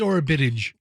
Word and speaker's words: Orobitg: Yeah. it's Orobitg. Orobitg. Like Buttigieg.